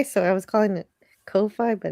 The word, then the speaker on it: Ko-fi: I learned how to pronounce Ko-fi. It looks like Wi-Fi, so I was calling it Ko-fi, but it's Ko-fi.